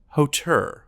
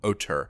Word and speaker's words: hauteur: And the only other English word I can think of, which is really just a straight loan from French, is hauteur, or hauteur, which is similar to haughtiness.